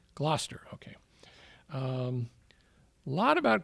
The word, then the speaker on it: Gloucester: Glower or Glouester. How do you say it? Gloucester.